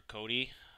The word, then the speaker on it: Kodi: so quickly just do a google search for cody i just showed you how to spell it there kodi and the first thing that